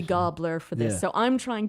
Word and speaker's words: Gabler: do some research and I've concluded that gobler is more accurate to the Norwegian pronunciation of the name so I made a decision an executive decision that it will be gobler for this so I'm